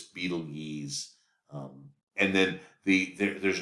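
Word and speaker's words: Betelgeuse: constellation um of Aion called Beetlejuice um actually you pronounce this Beetle yees um and then the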